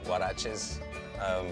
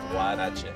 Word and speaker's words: huarache: We also have huaraches, which is a fresh corn tortilla topped off with beans, lettuce, the choice of your meat, and sour cream and Parmesan cheese. How do you say it? Huarache.